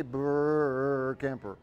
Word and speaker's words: Burkemper: My name is Burkemper, and if you have trouble pronouncing my name, just remember I do ice sculptures, and you can say Burkemper.